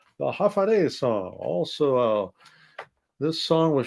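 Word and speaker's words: Håfa adai: Just pronounce it as Hafa adai. Sing it with a beat and say it every day. Hafa adai, Hafa adai, Hafa adai.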